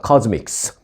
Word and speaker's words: CosMc's: 딱 선을 그어 주었습니다 뭐 한국식으로 발음하는 사람들은 뭐 코스맥스 할 수도 있겠고요 또 미국 사람들도 사실 어떤 사람들은 뭐 코스믹라테 하기도 하고 뭐 그렇게 하는데 맥도널드는 발음을 딱 정해줬습니다 코믹스로 해 달라고 선을 딱 그었습니다 코즈믹스 발음까지 규정한이 브랜드는